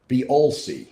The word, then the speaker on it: Beolsi: So just to make sure I did not mispronounce the name, someone else wrote in that it's Beolsi.